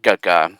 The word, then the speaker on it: Guigui: be Guigui, but yeah, I'm pretty sure they told me that it's like Guigui. So like the first part of the word guitar, for example.